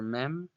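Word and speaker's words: מם: So that's the letter mem, which is voiced as a bilabial nasal, making an sound, as in the word market. Okay, but here too we see that the letter mem has a sofit, and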